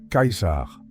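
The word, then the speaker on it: Caesar: Par exemple, dinner qui signifie prix se prononce avec un ts et le nom du grand César de cette époque sonnait plutôt comme Kaisar.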